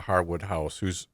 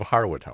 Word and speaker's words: Harewood House: Of Harewood House. Is it Harewood House Yeah. or Harewood?